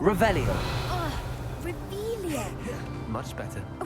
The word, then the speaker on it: Revelio: Rebellion. Saying it wrong. Revelio.